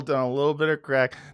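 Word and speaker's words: craic: Yeah, had some good crack. They're all hooked on crack over there, but it's spelled C-R-A. No, they smoke crack. Yeah. C-R-A-I-C. That's their word for fun.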